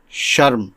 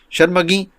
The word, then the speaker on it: شرم: خدمت میں حاضر ہے۔ آج کا لفظ ہے شرم، جو درست ہے۔ عام طور سے شرم بولا جاتا ہے، جو غلط ہے۔ شرم کے معنی ہیں